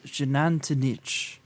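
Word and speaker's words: Xunantunich: It started with like a weird X. It's Shenantanich Mayan ruins.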